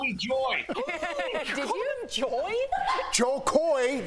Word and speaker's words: Jo Koy: joy did you enjoy joe coy joy it rhymes all right so far